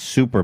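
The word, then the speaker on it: Xuper: Well, regardless, his new $300 super mask, pronounced super, but it's spelled with an X, so it's like super mask, is his latest invention.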